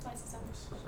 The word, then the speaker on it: lysosome: Am I pronouncing it right? Lysosome.